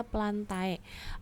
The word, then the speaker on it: plantae: itu sama dia adalah plante ya Kenapa dikatakan planted tapi di sini ditulisnya plantae a kalau untuk dalam biologi adane di akhir itu dibacanya jadi e jadi untuk Kingdom mereka